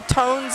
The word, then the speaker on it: Tone: And Will Tone's in there, even though they pronounce it Thon, it's Tone.